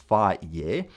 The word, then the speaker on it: Fage: My favorite one is Fage 0%, apparently pronounced Fage, and I can eat up to 16 oz or 450 g with berries and nuts as my first meal.